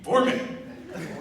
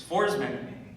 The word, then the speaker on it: Forsman: And he's sitting there and he's like, what are you, Foreman? Okay, there's a story behind that. He kept getting my last name wrong. It's Forsman, but he calls me Foreman.